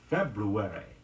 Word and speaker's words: February: has an interesting facade preferred pronunciation for the second month of the year is February F EB are you